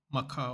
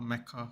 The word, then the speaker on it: Mecca: Because there's something really cool about everyone doing there's something really beautiful about people going to Makkah or Mecca, however you want to say it, and Medina,